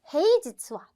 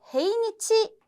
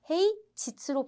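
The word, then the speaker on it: 平日: 헤이지츠와 평일은. 자, 요 발음도 항상 중요해요. 우리 일요일은 니치요비니까 헤이니치 아니에요? 라고 하시는 분도 계시지만 헤이지츠로 발음하셔야 된다는 거 꼭 체크해 두시고, 평일은 뭐뭐뭐뭐다.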